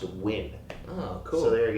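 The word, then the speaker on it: Nguyen: classes who told me that NG yeen is pronounced win oh cool so there you go so whoever told me it was pronounced win and I when somebody told me that they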